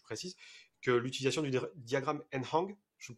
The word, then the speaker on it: Nhang: Alors après c'est après une lecture et pas un test, hein, je précise, que l'utilisation du diagramme Nhang, je le prononce bien, je... Ngehang. comment? Ngehang. Ngehang, ok.